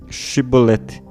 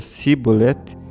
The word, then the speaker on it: Shibolete: Caso respondesse não, mandavam-lhe dizer Shibolete, que significa espiga, e se não pronunciava certo e dizia Sibolete, agarravam-no e o degolavam nos vales do Jordão.